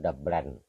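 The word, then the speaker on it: Dublin: ของ ประเทศ ไทแลนด์ คือ เมือง ดับลิน หรือ ดลน ที่ ชาว ไอริ เขา ออก เสียง อื ส่วน ใหญ่ จะ ออก เสียง ว่า ดับ แบน นะ เป็น เมือง หลวง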